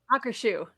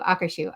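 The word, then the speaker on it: Akershus: say this correctly for me please do it hawk or shoe thank you akashu okay I ate there um for the first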